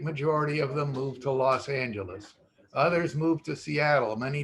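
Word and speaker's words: Los Ángeles: cefardi de los angeles well no los angeles we pronounce the g in our in our spanish and it originally was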